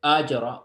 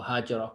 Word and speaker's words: Hajar: So Ajara or Hajara, both of these are readings of her name, and that's because of the way they would pronounce the ha. Some would pronounce it with the ah.